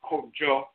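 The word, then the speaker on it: Kwadwo: That's Ajoa Inakan, female Abosom governing Monday Joda, Ajoa for female, and then Kwadjo for male, sometimes pronounced Kojo and so forth.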